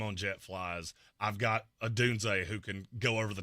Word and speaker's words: Odunze: DNA Tooth Podcast said Odunes. Yeah, I thought it was the same thing. It's not. The pronunciation guide came out. There is a hard Z at the end of his name.